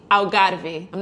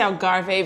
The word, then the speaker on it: Algarve: south of Portugal the alar I'm not going to say Algarve because I speak Portuguese thank you very much how do you say in Portuguese Algarve alari alari alari but this place has